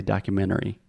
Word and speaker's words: documentary: to LinkedIn or Internet if I'm speaking fast I will almost remove the T it's more of a stop T and I do not say documentary I say documentary documentary perfect okay documentary